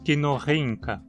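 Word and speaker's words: Kinorhyncha: Em quinorrinca temos de novo uma penúltima sílaba terminando em consoante, justificando a pronúncia quinorrinca.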